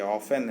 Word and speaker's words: often: जो ऑफन का मतलब होता है, ऑफ्टन नहीं है ये, ऑफन है, टी साइलेंट है।